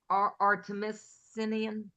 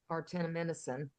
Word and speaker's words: artemisinin: uh, artemisinin. You're the chemist. How do you say? Artemisinin, very good, Sherry, very good.